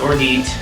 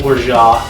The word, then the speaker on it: orgeat: It's not Orgeat, it's Orgeat. It is French.